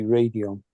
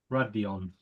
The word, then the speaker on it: Radeon: Well, no, I mean, if you go by the normal pronunciation rules, there is an E after the D, which makes the A into a long A. So it would be Radeon. Radeon.